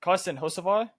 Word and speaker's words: Hocevar: I was even trying to overpronounce there. Go ahead and tell me number 22's name, Eli. Carson Hocevar.